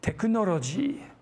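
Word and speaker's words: テクノロジー: exhibit is taiko teku teku is short for te kunoroji the japanese pronunciation of technology i think of taiko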